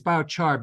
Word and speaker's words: biochar: I believe Furniture exactly which now I know how to pronounce and it's biochar because you take biological material to produce a charcoal-like substance um and usually when